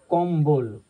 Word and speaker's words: কম্বল: দেখো অম্বল পাচ্ছি, কম্বল কয়ের সঙ্গে ক আছে, তার ময়ের সঙ্গে যুক্তাক্ষর ব আছে, এমনি ল আছে এখানে। তাহলে আমি যখন উচ্চারণ করছি কিন্তু বয়ের উচ্চারণটা পাচ্ছি কম্বল, এটা যুক্তাক্ষর অক্ষর